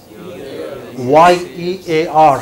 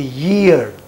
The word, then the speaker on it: year: It is not ear, it should be Y-E-A-R. How do you pronounce it? Ear. It should be year. Year. Get ear as in yes. And then say year.